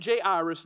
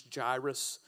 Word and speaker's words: Jairus: then a man named Jay Iris now I know uh the proper pronunciation is gyrus but I grew up kind of with the hip-hop so I call him Jay Iris so just go with